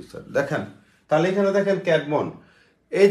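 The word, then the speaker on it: Caedmon: ইংরেজি সাহিত্যের আদিকবি হচ্ছে ক্যাটমন উচ্চারণ কি ক্যাট মন ক জ ফল আকার ড মনোমন ঠিক আছে ক্যাডমন এই ক্যাডমন কে বলা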